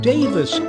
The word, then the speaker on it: Daviess: saint john's church some people call it saint john's but if you go to owensboro kentucky down there they call it davis county and it's kind of